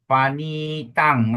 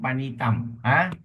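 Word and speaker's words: paṇītaṃ: So remember Ratanang, Panitang. Ratanang, Panitang, not Ratanam, Panitam.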